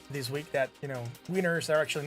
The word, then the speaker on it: Wiener: They're written Wiener in German, but it's the W, it's pronounced V as in Vienna, right?